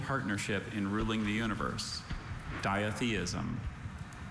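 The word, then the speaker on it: ditheism: Diatheism. May I have all the information, please? Diatheism. That's the only pronunciation I have.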